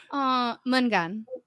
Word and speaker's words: Jeg elsker dig: Mungan.